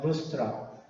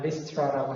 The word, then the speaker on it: Lystra: 루스트라, 영어는 리스트라라고 합니다.